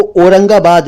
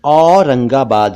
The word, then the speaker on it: औरंगाबाद: और एक शहर का नाम है औरंगाबाद, आप जानते हैं, वो औरंगाबाद नहीं है, औरंगाबाद है।